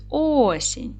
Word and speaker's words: осінь: Який склад у нас наголошений? Тобто на який склад падає наголос? На перший осінь.